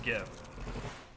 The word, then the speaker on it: GIF: How do you pronounce gif? It's gif.